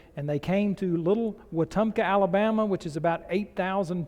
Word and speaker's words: Wetumpka: I bring you greetings from, as was properly pronounced, Wetumpka, Alabama.